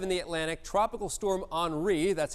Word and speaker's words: Henri: And then we also have in the Atlantic Tropical Storm Henri. That's how we pronounce that one. Looks like Henry, but it's Henri.